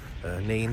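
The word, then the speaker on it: Nene: We've got the River Nan running through, Neen, if you don't know how to spell it properly, say it properly.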